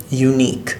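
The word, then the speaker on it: unique: দিয়ে usually ইউনিক ইউনিক সো কিউ ইউ এটার প্রোনাউন্সিয়েশনটা কে এর মত ইউনিক alright guys word this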